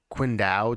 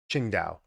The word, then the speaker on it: Qingdao: I don't know where the heck that is quindao China I can't say that quing Dao quindao